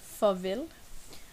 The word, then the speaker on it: farvel: Farvel. The A in farvel sounds like more like an O. Farvel.